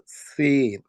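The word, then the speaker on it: سين: মধ্যে প্রথম লেটারটি হলো সিন সিন আমরা উচ্চারণ করব হলো জিহ্বার আগা সামনের দাঁতের নিচের দাঁতের গোড়ার মধ্যে লাগাইয়া উচ্চারণ করব সিন সিন সিন তারপরের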